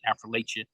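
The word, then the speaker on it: Affrilachia: I always pronounce it Affrilacha.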